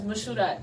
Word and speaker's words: Mashudat: And then like, you know, so I don't know, but I choose to say my name as Mashudat because I feel like that's how I read it, that's how I feel about it.